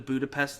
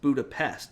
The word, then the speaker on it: Budapest: remember budapest very differently because pronounced budapest not budapest um so that's why